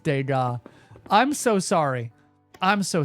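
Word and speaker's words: Degas: Sono, respectfully, it's pronounced Dega.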